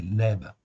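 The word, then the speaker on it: לב: ici si on prend si on prononce à la phonétiique en fait ici donc c'est Lèbe en fait ici un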